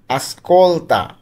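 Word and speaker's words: ascolta: আসকলতা। আসকলতা অর্থ শোন। আস কলতা আমরা উচ্চারণগুলো কিন্তু ভালোভাবে খেয়াল করব আমি সবগুলো আবার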